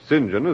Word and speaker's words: St John: the disciples then urban st john or sinjin as the british pronounce it i never thought of